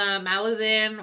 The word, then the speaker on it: Malazan: the first book in the malazan or Milazzo I guess he pronounces it Milazzo and I saw an